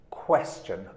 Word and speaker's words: question: qestion but that's wrong you need to say question qua qua question question so repeat what qua qua qua what will cook question what can a couple question question okay an accent on the first syllable question and this can